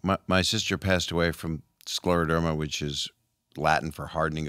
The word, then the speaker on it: scleroderma: just mentioned who passed away and excuse my pronunciation scleroderma derma you're there it's scleroderma scleroderma i finally got something right um research foundation